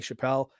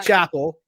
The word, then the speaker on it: Chappell: Like, because Dave Chappelle was very famous, everyone's like, "Oh, your name is pronounced like his," and I'm like, "It's not.